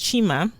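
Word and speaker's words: xima: staple in mozambique and lima pronounced chima and well maize is a staple in mozambique and chima is a staple dish it's spelled x-ima it's a maze porridge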